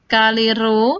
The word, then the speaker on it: rho: adalah Fa = v* rho sekali lagi ini rho ya anak-anak ini rho membacanya cara menulisnya seperti ini bedakan dengan p kemudian k g Fa